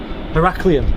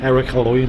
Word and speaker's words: Heraklion: ah what was it heraklion is how you pronounce it yeah but i was saying like eric halloween or something how you can say it now yeah and uh